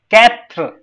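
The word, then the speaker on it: quatre: now this was perfect for both of you katr okay sank was perfect sank you didn't pronounce meha sank good cease sept pata nahi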